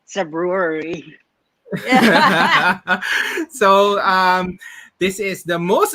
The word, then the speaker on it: Cebruery: Uh, Cebruery. So think of Cebu and think of brewery, but when you're tipsy, you say Cebruery.